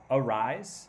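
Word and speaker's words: Arraez: he struck him out i'll rise really ben that's so you're saying it's arise is how you say luisa rise okay that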